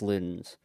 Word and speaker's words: Ludens: Um, but yes, but then it's pronounced Ludens.